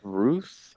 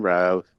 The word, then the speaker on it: Routh: Ruth? I don't know. Brandon Routh.